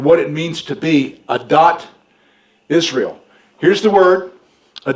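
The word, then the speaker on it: עדת: actually spell it a-d-a-t just remember that this is the way it's pronounced a dot okay it's from the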